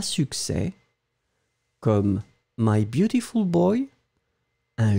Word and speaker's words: succès: And finally, succès. Remember that you don't pronounce the final S, but then it should definitely be there because it's un succès.